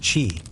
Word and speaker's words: qi: The main idea isqi, pronouncedq chi, which is the vital life force or energy that flows through everything, including our bodies.